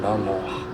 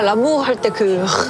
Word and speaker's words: L'amour: Use 'H sound' when you said l'amour eariler. L'Amour, Les Baguettes, Paris So, R pronunciation is a bit 'Hhh' - Right, your are good at it.